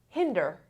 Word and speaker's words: hinder: adverb okay voluntarily hinder hinder hinder the stress is on the first syllable this is short hinder